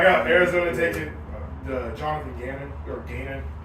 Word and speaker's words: Gannon: So I got Arizona taking the Jonathan Gannon. How do you say it? Jonathan Gannon. That's Gannon?